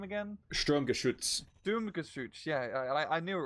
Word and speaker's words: Sturmgeschütz: Sturmgeschütz.